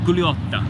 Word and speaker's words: Gugliotta: The second G is silent, so it's like Gugliotta.